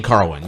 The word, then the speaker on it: Carwin: And then it follows with Lesnar versus, let me see how you pronounce it, Carwin? Shane Carwin, yes.